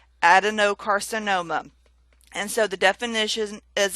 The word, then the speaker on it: adenocarcinoma: So I've stressed that no a little bit more than the other words. Adenocarcinoma.